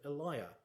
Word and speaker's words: Elia: work the essays of Eliah which is apparently the original pronunciation though it now tends to be rhymed with Celia a line from the